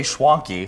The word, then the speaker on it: Schwanke: Oh, it rhymes with donkey. Yeah, well, so as soon as I said it, my executive producer Maddie was like, "It's Schwanke like donkey."